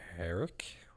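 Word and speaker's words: Herek: It was directed by Stephen Herrick. Is that how it's pronounced? Like Derek, but Close with an enough.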